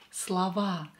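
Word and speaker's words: слова: we have Slava again o is not stressed here so we are going to pronounce it as a Slava and don't forget about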